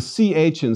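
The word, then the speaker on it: χ: It's equivalent to the CH in Scottish loch or German doch.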